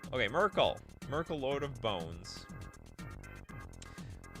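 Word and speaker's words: Myrkul: Miracle is pronounced Merkel. Okay, Merkel.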